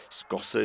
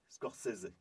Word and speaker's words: Scorsese: Scorsese s'est fait un peu remonter les bretelles par